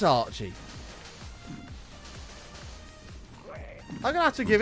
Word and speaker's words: Archie: AJ, Archie. You can see where I've got that mixed up. AJ, Archie. It's sort of it's two syllables.